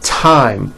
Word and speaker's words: thyme: spelled with a th they are pronounced as if they were spelled with a normal t like that and these words are thomas thompson teresa thailand thames like the river esther and thyme which is a spice